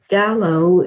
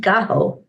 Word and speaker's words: gallo: good morning joanne good morning and gene says gallow is chicken in spanish but it's pronounced gaho so okay we can go with that and